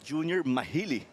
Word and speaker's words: Junior Mahili: And as that guy who assisted him said, we pronounce his name as Junior Mahili.